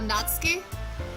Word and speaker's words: Natsuki: curious is okay so the names pronounced Natsuki oh right because there's some I've noticed that there's a lot of dropping of the ooh in Japanese it seems to be the vowel that's most commonly reduced is that right so